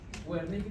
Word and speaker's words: Wernicke: Wernicke con W, se dice Wernicke.